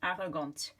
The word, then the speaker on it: arrogante: If you add an E after a consonant, you're going to pronounce it. So this one, you're describing, for example, your brother, il est arrogant. If you're describing your sister, elle est arrogante. Okay, the E makes the T be pronounced, arrogante.